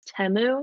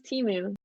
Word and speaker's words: Temu: and oh wow yeah okay so it's temu yeah temu no i t m I always thought it was teu yeah I didn't know